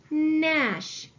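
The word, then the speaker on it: gnash: at our next word Nash at the beginning of the word I see that we have ghost letter digraph G and we need to cross out our ghost letter I also see that we have another digraph digraph SH at the end of the word and I see that we have a vowel followed by a consonant so the a is gonna make it short sound I have the word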